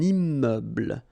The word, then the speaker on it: immeuble: So you can see I'm making this little liaison between the two. Un immeuble.